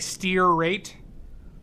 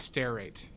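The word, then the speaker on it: stearate: r a t e like steer rate but it's stair it's pronounced stair rate yeah that's what I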